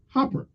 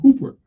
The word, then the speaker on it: Grace Hopper: The Common Business-Oriented Language, or COBOL, was primarily designed by a woman, Grace Hopper, or Hooper. It depends on how you pronounce the name, I guess. We're going to say Hopper, also known as Amazing Grace.